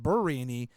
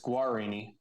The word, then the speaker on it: Guarini: and I also thought his name was Justin burrini up until Wednesday uh it's Guarini or whatever Guarini you know is how it it's spelled I mean